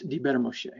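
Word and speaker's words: דִּבֶּר מֹשֶׁה: You must pronounce it basically as one word, all right?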